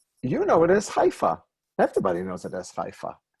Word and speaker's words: Haifa: So most people will talk about Haifa using the Arabic pronunciation, but it's Haifa in Hebrew.